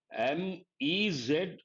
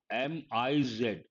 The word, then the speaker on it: Ms: is not known, and this is pronounced as MEZ or MIZ, Ms or Ms, Z sound here, and this you have to remember.